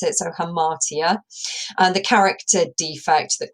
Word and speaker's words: hamartia: the definition below as well on how to pronounce it so hamartia and the character defect that causes the downfall